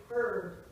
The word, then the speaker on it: herb: But nobody pronounced the H until the 19th century. So the reason why Americans say herb and not and herbal, and not herb and herbal, is not because we're trying to be French, but because they never said it without the H in America.